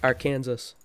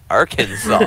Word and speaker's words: Arkansas: is like I think it's our Kansas Dakota Arkansas it's an inside joke all right it's pronounced Arkansas it's an inside joke landscape Lance had some